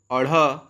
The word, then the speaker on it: ढ़: इसे एक बार देखें, अड़ अढ़।